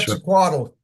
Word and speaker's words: Quetzalcoatl: Anyway, correct me on that in a moment, but the question Quetzalcoatl. Say it again? Quetzalcoatl.